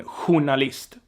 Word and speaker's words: journalist: it's pretty straightforward but in some loans it's pronounced like like in the French loan hunalist journalist hunalist so it's something you have to be aware about and know about.